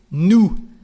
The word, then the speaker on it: nous: So we is nous. There is an S, but you don't pronounce it.